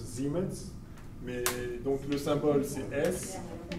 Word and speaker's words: Siemens: siemens dont souvent enfoncé siemens en remet allemand ça se prononce zim's met donc le symbole